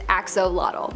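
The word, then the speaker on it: axolotl: we have the Axel there is much speculation as to how to pronounce the name of this creature but for the most part most people believe that it is axolot but another one that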